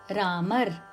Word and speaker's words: राम: is why R is ram in Hindi thus local language variations confuse us when pronouncing Sansa and neither Ram nor Rama are correct forms only R is the correct samk pronunciation you may have noticed